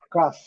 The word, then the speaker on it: cough: Cough, cough. O não pronunciado, o O com som, esse A aqui prolongado, mas um A com O, mesmo mistura de A com O, cough.